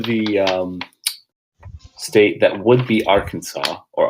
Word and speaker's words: Arkansas: And you come across halfway through the state that would be Arkansas or Arkansas, if you want to pronounce it correctly.